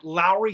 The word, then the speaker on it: Lowry: I always tell people, remember, it's like Lowry seasoning salt or there you go. For space. If you say Lowry seasoning salt, it's spelled L-O-W instead of L-A-W, but it's the same.